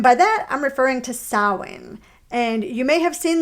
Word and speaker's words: Samhain: And by that, I'm referring to Samhain. And you may have seen this word in writing. It's spelled Samhain, but it actually is pronounced Samhain.